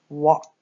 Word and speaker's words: walk: one on the bottom walk walk and our sounds are what ah this L is silent cook walk walk all